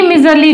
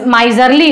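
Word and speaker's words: miserly: क्या है, कंजूस, कृपण है, कंजूस है, तो वो माइजरली होता है। प्रोनाउंसिएशन क्या हो गया, माइजरली। ये मिजरी होता है, माइजरली, मिजरी।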